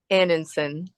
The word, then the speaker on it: Anundson: last name for us aninon the D is silent yes so uh Wendy